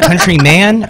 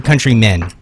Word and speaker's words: Countryman: Is it countryman or countrymen? It's countryman. Countryman.